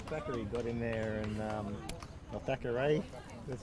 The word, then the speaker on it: Thackeray: Big Jacob Thackeray got in there, and Thackeray, that's how you pronounce his name, got in there to really force Shanks out of the pocket.